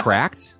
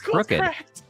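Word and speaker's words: CRKD: cracked there you go wait is that how you pronounce it cracked I've been calling it CR I thought it was too CKD crooked I've been calling it crooked it's called CRA wow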